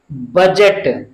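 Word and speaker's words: budget: डी और जी, डी जी एक साथ आया है तो हम डी का उच्चारण नहीं करेंगे, इसको हम क्या पढ़ेंगे? बजट, बजट।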